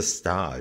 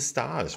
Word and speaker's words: stage: those that don't know what is a star so stars is spelled s-t-a-g-e so like stage yeah but it's not